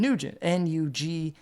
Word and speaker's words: Nugent: That's, like just like it's spelled, and Nugent, Nugent, like Ted Cat Nugent.